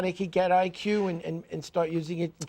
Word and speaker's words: EyeQ: I'll spell it out because when you hear it, you think just IQ, but it's spelled EYEQ because it's eye training.